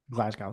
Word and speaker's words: Glasgow: it's true so clash of the castle Uh Glascow Scotland did I pronounce it right glasow Scotland yeah glasow glasow Scotland uh almost uh